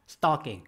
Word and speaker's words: stalking: stalking 알아두실 필요가 있겠는데요. 여기죠. contagion이라고 하는 것은 요거는 전염병을 얘기하는 거고요. stalking, 여러분 스토킹이라고 하잖아요. 그 남자가 나를 스토킹했어. 그게 stalking이에요. stalk. C자 거꾸로 발음이니까 발음 잘하셔야 되겠고요.